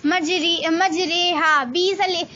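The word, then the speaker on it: مجریها: امالہ کی راہ کو اردو کے لفظ قطرے کی راہ کی طرح پڑھیں، یعنی ری نہیں بلکہ رے پڑھیں.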